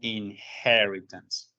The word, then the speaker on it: inheritance: We continue talking about object-oriented paradigm, but today we're going to focus on inheritance. ¿Listo? Quiero que tengamos en cuenta la pronunciación que suena con in-he, como con J, inheritance.